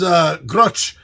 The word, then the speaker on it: Grutch: He is Grutch. He is rhymes with you ever, I was thinking of the name, like if you have a grudge against somebody, you know.